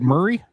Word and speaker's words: Maury: Well, it's spelled Murray, but it's I know like Murray Povich or whatever, but it's Murray.